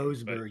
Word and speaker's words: Boasberg: District Judge James Boasberg, I believe is how you say his name. But Boasberg, yeah, that's it. Looks how it is.